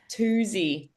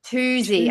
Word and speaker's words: Tuzi: Toosey. Toosey.